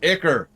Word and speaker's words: ichor: Which is pronounced ichor!